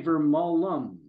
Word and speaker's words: Vermolm: Like It is Vermolm, but you say Vermolum, like another Vermont, syllable on the end, right?